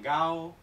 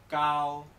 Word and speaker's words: gao: Así, la sílaba, por ejemplo esta, no se pronuncia gao, gao, no. Se pronuncia cao, cao. ¿Os fijáis? La G como una K, cao.